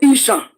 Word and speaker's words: Esan: The Esan people, they are just like that Esan now. Isha. If the British want to pronounce Esan, they will say Isha.